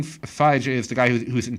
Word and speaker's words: Feige: Kevin Feige or fight I first pronounce fight can feed no no no Kevin Kevin Phi J is the guy who's